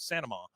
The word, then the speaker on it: Saint Amand: Bloody Happy Hour, and Claire Saint Amand, who she is Santa Ma. She told me how to say her name.